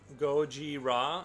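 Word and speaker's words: ゴジラ: Goji Ra is how you say Godzilla's name in Japanese.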